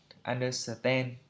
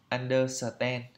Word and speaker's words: understand: bảng IPA ấy, thì thường là chúng ta hay đọc cái kiểu phiên âm Việt Nam như là understand, kiểu thế, under rồi ten, understand. Ok, như vậy là không đúng. Phải đọc đúng theo phiên âm là understand. Understand. Understand. I understand. Do you understand? Đấy, lên giọng understand.